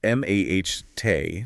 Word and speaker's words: mate: So in Spanish it's pronounced m ah t stress on the first syllable.